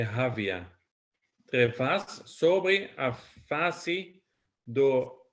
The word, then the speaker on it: havia: After vazia é havia. Havia. Same thing. Havia e movia. É. Yeah, so same thing. So the I gets the emphasis.